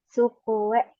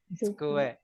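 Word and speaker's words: つくえ: Sukuwe. Tsu. Sukuwe. Tsukue. It's how to pronounce.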